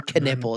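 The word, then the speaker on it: Knueppel: So, Khan Canipple, K N U P L K Canipple is how you say.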